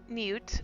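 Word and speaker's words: Neut: marks in the city, they can go with Newt. Is that how you say her name? Yeah, no, that was perfect.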